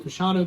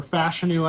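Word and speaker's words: Fashanu: is though I've had a lot of Olu fanu going here or fashu I'm hearing now as it's pronounced post combine we've seen a lot of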